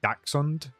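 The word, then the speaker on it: dachshund: Uh, it is it's daxund, but I say I say dashund, but that's definitely not right. Dashund is sometimes heard it's considered a misprononunciation.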